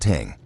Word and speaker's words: thing: or more commonly to the local thing pronounced ting.